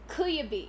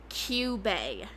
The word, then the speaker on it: Kyubey: Queaby.